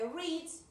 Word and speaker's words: read: Yo lo enfaticé eso en la clase anterior porque decía el pasado de read se pronuncia como el color red, yes.